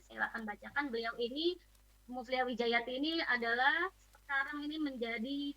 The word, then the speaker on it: Mufliha Wijayati: Sering ada ini Mufliha Wijayati, Mufliha Wijayanti ya. Ya. Sering baca seliweran namanya Mufliha Wijayati atau Mufliha Wijayanti. Oke, biar tidak salah penulisannya, pelafalannya, saya akan bacakan. Beliau ini, Mufliha Wijayati ini adalah sekarang ini menjadi tenaga pengajar di